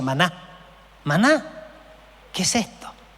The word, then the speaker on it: maná: palabra qué es esto significa o sea se pronuncia Maná Maná qué es esto y era como el